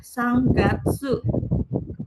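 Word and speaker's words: 三月: Sanggatsu bukan sang eh kalau dia getsu jadinya sangka getsu gitu.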